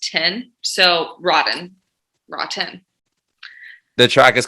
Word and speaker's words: RAW10: so like a play-on words rotten ah very interesting okay cool so the the japanese symbol uh stands for heaven but it's pronounced tin so rotten rotten the track is